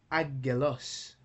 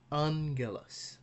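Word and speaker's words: ἄγγελος: When gamma is followed by gamma, kappa, and chi, it is pronounced like N. Okay, so that's a new one. Like in it should have been agelos, but instead is angelos.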